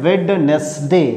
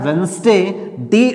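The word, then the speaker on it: Wednesday: इसमें खास बात है कुछ लोग इसे बोलते हैं वेडनेसडे नहीं इसे बोलना होता है वेडनेसडे साइलेंट होता है वेडनेसडे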